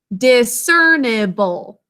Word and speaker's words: discernible: instead of able okay sound out discernible with me discernible four syllables which means able to be discerned like mars is discernible because of its bright reddish orange color we're able to differentiate it discernible the first two syllables are the same de cern with two letters then we have e and silent finally job four just